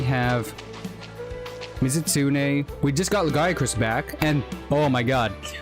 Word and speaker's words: Lagiacrus: We just got Lagiacrus back, and oh my god, Lagiacrus. They pronounce his name so weirdly in wilds.